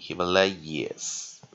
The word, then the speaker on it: Himalayas: nucleus 是 a，不过注意看看，看到这个音节前有没有注意看，它没有母，它没有子音的嘛，所以它这个叫做 open syllable 啊，open syllable 啊，所以这时候就变成长母音了啊，那这边再做个弱母音 Himalayas， yes， Himalayas 啊，yes 啊，所以 y 没有念了，好，所以我们再看一遍 Himalayas，